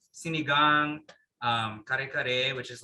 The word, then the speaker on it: sinigang: me what are some of so besides it's pronounced si siligog oh sinigang no not tanaka the the milk fish and